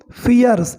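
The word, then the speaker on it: fierce: तो आगे बढ़े, the fight was सो फियर्स, okay, so फियर्स, इसको कुछ लोग फायर्स पढ़ते हैं, राइट, दैट इज इनकरेक्ट, इसका सही उच्चारण होगा फियर्स, फियर्स, ओके।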